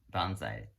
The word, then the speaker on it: bonsai: bonsai to Chinese character the Japanese pronounces bonsai and the Chinese pronounced as pansy which means the potted plants